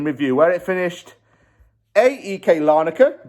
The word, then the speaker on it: Larnaca: Where it finished, AEK Larnaca. Gatesy was actually right. That's how you do pronounce it.